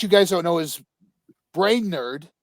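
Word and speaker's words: Brainerd: guys don't know is brain nerd or Bernard because it's spelled b-r-a-i-n-e-r-d so it's brain nerd is trying to develop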